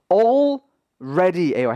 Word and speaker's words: already: already 이미라는 뜻의 단어인데 이거 여러분들 L과 R이 붙어 있기 때문에 이거 여러분들이 already라고 L만 발음하거나 already라고 R만 발음하는 수가 좀 많습니다. 이거 두 가지가 각각 발음이 됩니다. already예요.